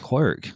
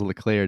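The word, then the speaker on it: Leclerc: at max verstappen and charles what clerk is that how you say his name verstappen will grace the cover of f1 okay charles charles leclair didn't you take french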